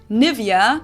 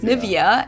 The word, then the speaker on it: Nivea: pronunciation pretty funny here English native speakers usually say Nivea Nia in German we say nia nia so the emphasis is on the E NAA okay this is